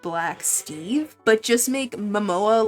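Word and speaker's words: Momoa: I thought Jason, um, Mo Mimoa, I think that's how you say it. Mimoa.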